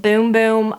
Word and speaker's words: Bum Bum: So, you guys know the Bum Bum cream, the Brazilian Bum Bum cream. Someone said it's called Boom Boom cream, like B-O-O-M. It's spelled B-U-M, like bomb.